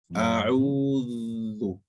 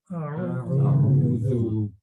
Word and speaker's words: أعوذ: So the tongue touches the tip of the tongue touches your incisors when you pronounce the Dhal. When you pronounce it, not after it. A'u. Slow it down. Everybody slow it down. A'udhu. أعوذ.